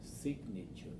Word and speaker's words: signature: these three syllables then which one is the stressed syllable one two or three sign signature signature signature first one the first one right okay so we